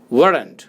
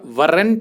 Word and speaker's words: weren't: अब ये जो प्रोनाउंसिएशन है वरंट का, उसको कृपया वरंट मत बोलिए। उसमें आप क्या कीजिए कि आर को थोड़ा सॉफ्ट कर लीजिए, अपनी जीभ को थोड़ा घुमाकर वरंट, या तो ये बोल सकते हैं, या फिर आर को बिल्कुल हटा दीजिए और बोल सकते हैं आप वर्ंट।